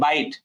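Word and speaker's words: bite: ইটা যখন সাইলেন্ট হবে, যেমন এই যে বাইট, এখানে লাস্টে ইটা কিন্তু উচ্চারিত হচ্ছে না, এই লাস্টে একটা সাইলেন্ট ই থাকলে এই আয়ের উচ্চারণটা কি হয়ে যায়? আয়ের উচ্চারণটা হয়ে যায় লং।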